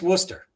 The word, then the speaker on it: Worcester: accent came out there oyster is how you say that correctly worcester yeah yeah yeah that's the new that's the new england thing it's worcester okay i never would have